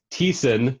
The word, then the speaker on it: Thiessen: Okay, it's pronounced Matthew Thiessen.